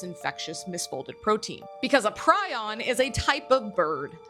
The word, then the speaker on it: prion: Prusiner answered a question regarding why he chose the name prion.